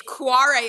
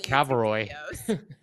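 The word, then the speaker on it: Kvarøy: How do you pronounce that? It's Quarry Arctic. I didn't know how to pronounce it for a very long time. I had to watch multiple videos. Yeah, it looks like Cavaroy.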